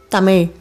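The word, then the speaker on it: தமிழ்: While pronouncing it, the tip of your tongue should touch the back roof of your mouth.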